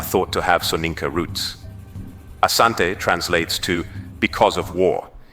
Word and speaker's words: Asante: The variant name Ashanti emerged from British reports where the pronunciation of Asante was transcribed as Ashanti reflecting how the British heard and interpreted the word.